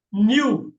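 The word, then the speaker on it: knew: நோன்னா நியூ. நல்லா பாருங்க, இந்த நியூ இருக்கு இல்லையா, இந்த நியூ ஒரே மாதிரிதான் உச்சரிக்கணும்.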